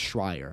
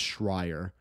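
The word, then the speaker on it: Schrier: or I think it's schreier I think someone told me I had someone in my video where I said her name I think it's schreier um so I am hoping I got that right it's Kim schreier but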